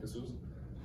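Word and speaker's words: Jesús: I mean, basically Jesus, but with an accent, so I'm Jesus.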